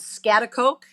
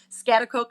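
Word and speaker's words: Schaghticoke: live on a dairy farm in what's called scat Coke don't try to spell it it is not for the faint of heart scat Coke New York and I live with my husband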